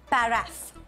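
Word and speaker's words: paraph: The accurate pronunciation is paraff. Paraff.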